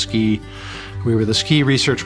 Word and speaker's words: SCI: scientific Computing and imaging which we pronounced ski we were the ski